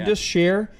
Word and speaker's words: Indus Sher: Indus Sher.